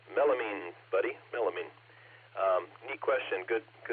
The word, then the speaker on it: melamine: to say goodnight and give Gary the correct pronunciation of melamine. Melamine, buddy, melamine.